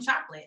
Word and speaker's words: CHOQLIT: up with the name chocolate i know it sounds like um it sounds very easy but i see that it's spelled differently as well so yeah i can't